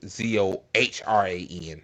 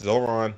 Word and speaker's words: Zohran: It's Zohran, not Zoran. It is what it is. I get folk name wrong too. It says Democratic Socialist Zoran Mamdani pledges to root